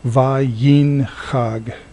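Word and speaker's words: וַיִּנְהַג: The next word, Vayinhag, likewise has a silent schwa. This is an open syllable, va, and then this one is a closed syllable, begins with a consonant, ends with a consonant, and this is marking the end of the syllable, yin, excuse me, va yin chag.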